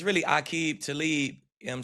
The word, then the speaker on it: Aqib: third person, you said your name Akib like like ah rather than a like you ate. Is that the proper pronunciation? Yeah, it's really a talib.